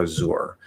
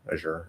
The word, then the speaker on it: Azure: weird so azure azure or azure i'd probably try to say one of those two and whichever one comes out is what happens but um i think there are people who use like an sh sound let's say like a sure or a shore or something like that i don't know